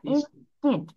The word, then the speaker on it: instead: ইনস্টেড, এটার pronunciation হবে ইনস্টেড, পরিবর্তে।